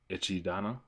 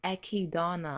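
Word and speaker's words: Echidna: Kind of focused it on uh Ichidana. It's no It's Ekidana. Ekidana.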